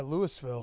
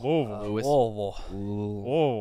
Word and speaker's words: Louisville: was Louisville oh yeah Louisville Louisville yeah it was uh an interesting weekend why what happened how was you to say it like you have a dick in your throat did they police that